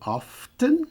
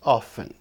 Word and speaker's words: often: Você pode dizer often com o T ou omitir o T e dizer apenas often. Então, as 2 pronúncias estão corretas.